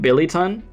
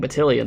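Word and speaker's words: Billiton: power wait is it wait is it pronounced Billy not batian it's Billy it's Rim billyon oh damn I've been saying blian this whole time it's Rim billyon like Billy that make that actually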